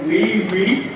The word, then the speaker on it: wewe: Dan juga kalau wiwi, jadi bacanya wiwi itu dari kata Cina yang memiliki arti kuat, bergengsi dan perkasa, jadi powerful, precious, and mighty.